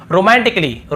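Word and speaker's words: romantically: है और फिर देखिए रोमांटिकली टिकली यहां पर भी देखिए ए का उच्चारण नहीं हो रहा यदि होता तो क्या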